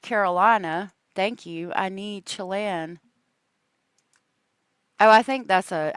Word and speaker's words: Chelan: Okay, I went to Google, and I know it's Chelan, I think is how it's pronounced.